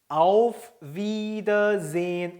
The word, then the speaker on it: Auf Wiedersehen: 자, 이 에는 어떻게 한다 그랬죠? 이를 길게 한다 그랬죠. 그래서 wieder 길게 발음하죠. 그리고 에 뒤에 모음 뒤에 하가 나오면 앞에 있는 모음을 길게 발음해요. 그래서 sehen이 아니고 sehen 이렇게 발음합니다. 그래서 wiedersehen이 되는 거예요.